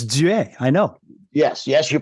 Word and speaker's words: Duet: And the last name, because everyone pronounces it Duet. Duet. Yeah, but it's Duet.